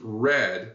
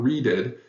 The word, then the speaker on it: read: on a reed however r e a d can also be pronounced red when it's the past tense of the same verb